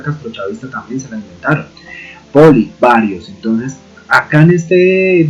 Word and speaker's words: poli: Recuerden que en griego y en latín no existe la L, entonces no podemos pronunciar polli, sino poli.